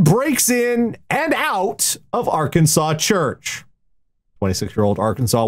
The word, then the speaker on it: Arkansas: ireland one is pronounced kansas the other is pronounced arkansas yeah it's not kansas and arkansas it's not